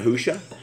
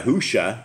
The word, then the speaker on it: Yahushua: Messiah Yahushua, it's like Joshua with a Y.